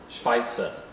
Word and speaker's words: Schweitzer: Albert Schweitzer okay so in German in real German his second name is Spicer okay but in Korean I think it's pronounced Q by Jo to buy a Jawa but that's probably wrong but in German it's pronounced Schweitzer okay so what information